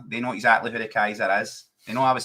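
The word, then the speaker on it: Keiser: See, when I started appearing in the chats, obviously my name is spelled K E I, right? K E I S E R. But it's actually K AI for Kaiser, right?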